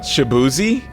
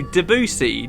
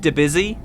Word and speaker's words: Debussy: Shabuzi? What? Shabuzi? No, Debussy. You remember we pronounced it Debussy?